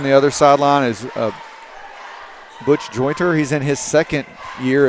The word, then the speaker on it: Jointer: That he has a T in it.